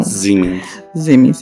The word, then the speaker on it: Siemens: A Aisha também mandou que ela queria saber sobre o escândalo da Siemens, porque o marido dela trabalha na Siemens, como se fala em alemão. Siemens.